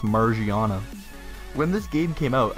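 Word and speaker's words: Magearna: for how I pronounced Margiana. When this game came out, I was not stupid. I saw it based on a gear, Magirna, like that's pretty clear.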